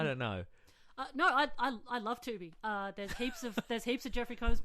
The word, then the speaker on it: Tubi: Does it rhyme with Scooby? Yes, it does, yeah. Yeah, it's called Tubi is what it is.